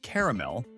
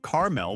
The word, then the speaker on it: caramel: The pronunciation of caramel is not a discussion, it's an ambush. Whether you say caramel with 2 syllables or caramel with 3 is irrelevant.